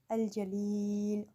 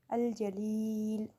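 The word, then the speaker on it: الجليل: Pronounce this name with me, Al-Jalil, Al-Jalil.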